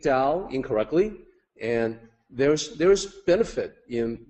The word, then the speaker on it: Tao: So the correct way to say it like Dao with a D sound. The incorrect way is to say it like Tao.